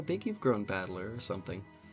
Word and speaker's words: Battler: Battler is made up of the characters for fight and person, and it's pronounced Battler.